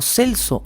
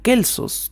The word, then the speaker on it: Celso: Bueno, el ya mencionado filósofo griego Celso o Kelsos, dependiendo de cómo lo busquen, curiosamente cambia de C a K en el caso del cambio de pronunciación, Celso o Kelsos.